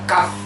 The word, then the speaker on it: cough: Kemudian cough, bacanya cough, ya, cukup berbeda dengan tulisannya cough, ya, cough sirup, biasanya obat batuk sirup.